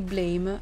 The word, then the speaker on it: BLAME!: piccola curiosità in realtà il titolo non si legge blame ovvero colpa in inglese ma blam cioè il suono che fa la pistola quando si spara se il video vi